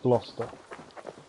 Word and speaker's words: Gloucester: Yeah, it's actually pronounced Gloucester. Glowchester. Right, where are you?